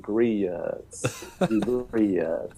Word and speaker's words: grits: pronounce the word uh grits uh and and and I've got to, you know, sometimes explain that the proper southern pronunciation of the word grits is two, it's two syllables.